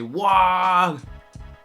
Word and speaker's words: WAAGH: Alfarius says, you pronounce the G, but it's a bit faint, and it sounds like it's pronounced nor or more towards the end of the word. So when I say WAAGH, is that good?